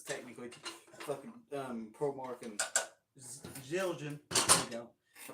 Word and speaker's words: Zildjian: I might get burned for this because it's technically fucking ProMark and Zildjian. There you go. I pronounced it right too.